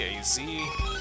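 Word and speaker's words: Z-A: His name is pronounced as the two letter letters separately. A Z as we got another Eevee.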